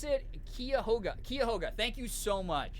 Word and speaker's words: Cuyahoga: We pronounce it Cuyahoga.